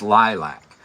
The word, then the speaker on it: lilac: Anyways, the pronunciation is Lilac.